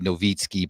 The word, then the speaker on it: Nowicki: So my last name is Nowicki, Nowicki. It's Polish. It's actually supposed to be Nowicki, but nobody understands that's how you pronounce it.